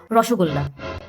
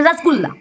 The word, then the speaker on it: রসগোল্লা: অন্নপ্রাসন থেকে শ্রাদ্ধারি ফেমাস রসগোল্লা। হুম। এরা রসগোল্লাটাকে কি বানিয়েছে? রসগোল্লা। মানে রসগোল্লার রসকশ বাদ দিয়ে রাস। আর গোল্লার গো বাদ দিয়ে সেখানে বসেছে গু। মানে রসগোল্লা।